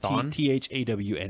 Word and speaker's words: Thawne: Or it's spelled a little bit differently. Thawne, actually. Thawne? It's Thawne.